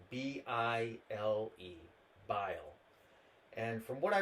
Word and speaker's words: Bile: That's spelled B-I-L-E.